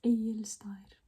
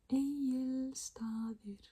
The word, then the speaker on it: Egilsstaðir: on to just words that are hard to pronounce sometimes, I guess. This place we have, or town, it's a town, is Egilsstaðir. Egilsstaðir.